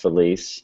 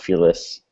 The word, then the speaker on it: Feliz: But I happen to know that the word is pronounced feliz, not feliz, and that it also is a singular word.